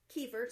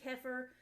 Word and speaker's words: kefir: And so what I am using is some homemade kefir. Some people say kefir. When I learned about it, it was pronounced kefir, so that is the way that I pronounce it.